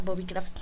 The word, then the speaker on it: Bobicraft: Craft Bob Bob Craft así se pronuncia Bobby Craft Por qué di tu